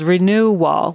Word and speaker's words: Renew Wall: Now, a study that we're just starting now is called Renew Wall, like renewal, but it's spelled as renew-wall.